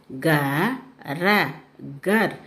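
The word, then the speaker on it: घर: Now ga ra gar. Gar means house. Here ga ra. Last letter is ra. You should pronunciation as ir.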